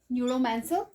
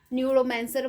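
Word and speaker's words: Neuromancer: इसमें हमारे पास नंबर 15 है न्यूरोमैंसर, राइट? ये आपका 1984 में पब्लिश हो रहा है। न्यूरोमैंसर बोल सकते हो आप इसको, न्यू रोमांसर भी बोल सकते हो, right? So this is the pronunciation न्यू रोमांसर।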